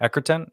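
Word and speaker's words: Egerton: wanted to watch it because I love Taron Eckhart. Is that how you say his name? Edgerton.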